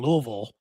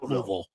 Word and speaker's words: Louisville: least in Kentucky, in Louisville, which I learned to say right too. You have to say it like you got food in your mouth. You can't say Louisville. Louisville.